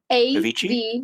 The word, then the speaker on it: Avicii: Don't know how to pronounce. Okay, we it's got two people. AVICII. ABIC. Avicii? AVICII.